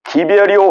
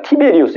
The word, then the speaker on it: 티베리우스: 근데 그 세례 요한이 활동할 때가 여기 이제 누가복음 3장 1절에 보면은 디베리오 황제가 통치한 지 15해 이렇게 돼 있잖아요. 이 디베리오 황제가 누구냐면은 티베리우스 황제입니다. 티베리우스.